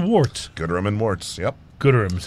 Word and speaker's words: Gooderham: Gooderham is how you say it, yeah.